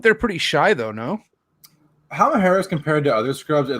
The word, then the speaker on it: Halmahera: The Halmaheras. Did I say it right? The Halmaheras? Halmahera, yeah. Woo.